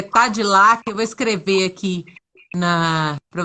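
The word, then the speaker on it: Tadelakt: Tem gente perguntando aqui qual o nome da técnica, é Tadilac. Eu vou escrever aqui para vocês verem. É Tadilac que pronuncia, né? Isso. Tadelac, né?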